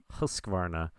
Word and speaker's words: Husqvarna: It's spelled funny. It's Husqvarna. Husqvarna.